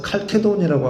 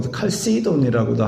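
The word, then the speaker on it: Chalcedon: 그리고 어 뭐 발음하기에 따라서 칼케돈이라고 하고 칼세이돈이라고도 하는데 어쨌든 신성과 인성은 분리되지 않는다라는 내용의 고백이고 하고 나서 우리 또 거기에 대한 잠시 이야기를 하겠습니다.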